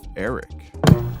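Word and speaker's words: Erek: My main issue in this episode is that they introduced the character of Eric. And yes, it's spelled E-R-E-K.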